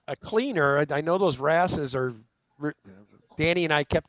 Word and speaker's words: wrasse: Loaches, I think, wouldn't the wrasse be considered type of loach for the saltwater? Am I even saying it right? Yeah, I think you're saying wrasse right.